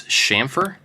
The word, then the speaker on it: chamfer: you guys know that it's not CH it's a sh sound it's shamer I've heard both and